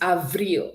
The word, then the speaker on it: avril: March is pronounced ma. Can we say that? Ma. Good. April is avril.